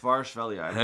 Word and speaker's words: Kvaratskhelia: Kvaratskhelia. That's how you say it.